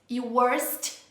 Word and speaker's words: worst: muita gente perguntando se a pronúncia dessas duas palavrinhas é igual e a resposta é não nós falamos essas palavras ao longo do vídeo e deu para perceber que a pronúncia Dinho Wars não é exatamente igual a pronúncia the worst tá Wars e esse som de s no final né worse worst tem esses hão-de ter no final gente que tava acontecendo